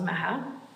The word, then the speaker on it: Maha: Most people can't pronounce my name, and it's pronounced Maha.